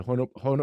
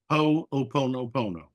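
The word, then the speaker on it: hoʻoponopono: When we do conscious work or the hono, how do you say it? Hono ho pono pono.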